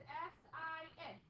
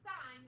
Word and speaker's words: sin: We abbreviate sign as S-I-N. It's not sin. Can't sin in that. Okay? That is pronounced sign.